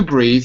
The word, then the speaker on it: breath: To breathe has an E on it. Okay, so that's a long sound. Breathe. Without the E, it's a noun. Breath.